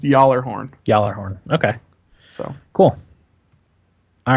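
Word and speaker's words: Gjallarhorn: But, Tito in the chat says it's pronounced Jallarhorn.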